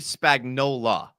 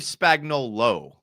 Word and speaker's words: Spagnuolo: I appreciate you actually saying everyone says Steve Spagnuolo, but it's actually Steve Spagnuolo.